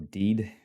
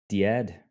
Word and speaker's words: DEAD: dead a dead mission or deed if you're going to say it like seed or seaad diad whatever you want to call it can be planned